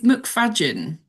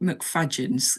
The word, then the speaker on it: McFadzean: It's McFadzean. So it's like fudge, but with an A. It's spelt McFadzean, obviously, but McFadzean. It's a Scottish name, down to Scott.